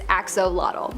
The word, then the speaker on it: axolotl: There is much speculation as to how to pronounce the name of this creature, but for the most part, most people believe that it is axolotl.